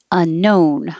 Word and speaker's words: unknown: make it a smile unknown i just put in o n to make you think of o but it's the american o like home unknown i thought if i